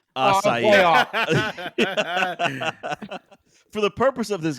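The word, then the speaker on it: açaí: fiance all the time I know it's assai but I say aai all the time and she gets so mad say say it right again I say big cat I don't ever say it but I would say aai if I said I think Jus it's aai assai not ass assai assai for the purpose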